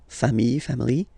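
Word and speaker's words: familles: And then you take family. Okay. Just add this final s and you get the plural form le. Okay. Remember singular form. Same pronunciation but you put this s. Okay. Final s not pronounced.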